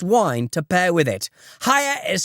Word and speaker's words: Haier: Hire is spelled H-A-I-E-R, and we're offering a discount on their amazing products.